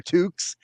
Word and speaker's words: toque: I would, kids would leave their toques at the rink, so I would steal.